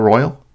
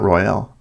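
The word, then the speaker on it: Isle Royale: Did I say Isle Royal? Royale. Oh, it's pronounced Royal. Okay, so not Royale.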